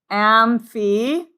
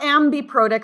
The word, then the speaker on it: amphiprotic: They are called amphiprotic. not ambiprotic. Sometimes I get people with like ambidextrous, but it's amphi.